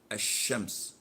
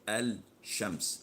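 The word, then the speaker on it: الشمس: say L Z well as in the word a shemp's we don't say al-shams this is why they call this L a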